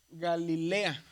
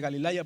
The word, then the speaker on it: Galilea: y una y aquí la pronunción es como una e. Entonces por eso nosotros decimos Galilea y no Galilea. Entonces aún ellos mismos lo conocen como región de Galilea, no región de Galilaya. ¿Por qué? Porque sucede este accidente aquí, ¿verdad? Este cambio que hay aquí. Entonces es Galilea.